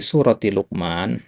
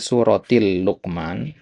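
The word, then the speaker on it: سورةِ لقمان: nah di sini tadi antum bacanya suratil luqman ya jadi luqman itu nama orang jadi dia enggak pakai alif lam surati luqman surati luqman ya jadi bukan suratil luqman ya surati luqman Nah,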